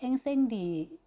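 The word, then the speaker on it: Incendies: 앵생디 아마 S 발음이 안 될 것 같고 근데 이제 복수형인 거죠.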